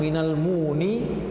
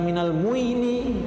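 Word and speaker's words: مِنَ المُؤْمِنِينَ: Nah, di sini kenapa Ustadz mengubahnya minal muni bukan minal muini, ya, yang seharusnya minal muini menjadi minal muni, ya, karena dalam bahasa Arab ketika ada dhamma bertemu dengan ya itu berat pengucapannya, muini. Jadi agar dia ringan dirubahlah menjadi waw agar bisa menyamakan dengan huruf baris sebelumnya itu dhamma, muni, ya. Kalau muini itu berat, ya. Jadi dia biar lebih sama pengucapannya.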